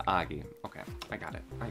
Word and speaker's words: Ogie: And she said it Ogie, so I thought it was Ogie. Spelled the same way, but it is Augie.